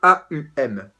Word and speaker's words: Aum: On l'écrit A-U-M, d'accord, Aum. Voilà, qui donne déjà un petit indice donc sur cette deuxième prononciation. Ça rejoint en fait tout